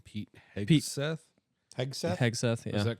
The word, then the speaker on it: Hegseth: I don't know how to pronounce this last fucking name. Pete Pete- Hegseth? Hegseth? Hegseth, yeah.